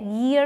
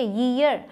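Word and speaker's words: year: ईयर pronounce करते हैं इसे, ईयर, तो उसके पहले ए का यूज़ कर लिया।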